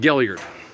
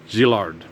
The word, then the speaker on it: Gillard: zard they called it gilard is what they called the themselves but the actual pronunciation of their name is zard okay it's French okay zard and even